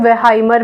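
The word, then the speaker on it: Wertheimer: तीन साइकोलॉजिस्ट हैं, मैक्स वर्थाइमर, इनका प्रोनाउंसिएशन वेहाइमर भी आप कहीं जगह पढ़ेंगे, फिर वुल्फगांग क्योलर, इनका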